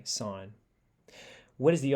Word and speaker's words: sine: think of it as sine that word that's how it's pronounced now a typical thing is it's a sin to say sin and some people still do it so you want to say sign where does the o